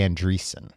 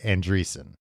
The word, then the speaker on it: Andreasson: it how you want I'm going to say andrees okay cuz I think that's right so Betty andrees was